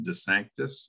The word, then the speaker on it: DeSanctis: every week because he knows exactly how to pronounce my last name de Sanctus and I make a big deal out of